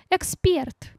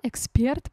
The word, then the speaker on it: эксперт: Эксперт. Ну, да, эксперт, правильно только так.